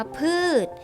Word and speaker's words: พืช: เสียง เป็น เด็ก ถ้า คำ ว่า พืช ชอบ ช้าง เป็น ตัว สะกด ค่ะ ออก เสียง เป็น ตัว เด็ก นะ คะ ต่อ มา